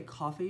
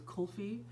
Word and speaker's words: kulfi: you say cold feet I always want to say coffee but it's kulfi vanilla amber sandalwood and